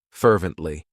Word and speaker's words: fervently: It has 3 syllables, and the stress is on that first syllable, fervently.